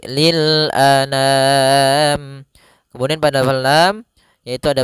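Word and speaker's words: لِلْأَنَامِ: langsung saja Lil Anam a sempurnakan Hamzah jangan an Jangan dibaca dengan dengung atau dibaca dengan masuk hidung tidak tapi lilam Kemudian pada lam yaitu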